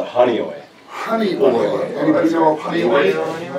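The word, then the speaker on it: Honeoye: And they grew up in, please tell me how you pronounce that hometown. Call it Honeyoy.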